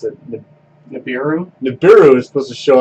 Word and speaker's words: Nibiru: late September supposedly there's a planet called honey pronounce it Nibiru Nibiru is supposed to show up always it